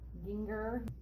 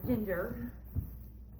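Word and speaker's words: Gingher: these are my uh ginger g-i-n-g-h-e-r that's how my mom taught me how to say it it's not ginger and they're always really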